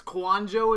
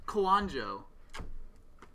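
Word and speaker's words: Kouandjio: It's Kwanjo, is how you pronounce that? That's not too hard then, is it? Kwanjo.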